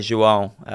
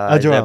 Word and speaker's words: João: João. João. Brazilian accent on top of the A there.